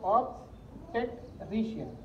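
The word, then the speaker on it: obstetrician: ऑब्स्टेट्रिशियन हिज्जे, हिज्जे जैसा करते हैं ना, अरबी पढ़ते हैं आप लोग, हिज्जे वैसा हिज्जे कर दे रही है इसको, ऑब्स्टेट्रिशियन, और फिर मिला के बोल देने का ऑब्स्टेट्रिशियन, इस तरीके से ये इसे बोलते हैं।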